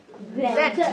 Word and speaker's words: that: দ্যাট, দ্যাট, দ্যাট না, দটাকে গ উচ্চারণ করবা কিন্তু জিভটা একটু বের করে That.